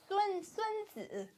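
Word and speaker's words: Sunzi: So that's not even a T. It's a D.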